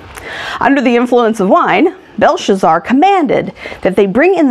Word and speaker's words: Belshazzar: So it says, King Belshazzar, there I said it right that time, made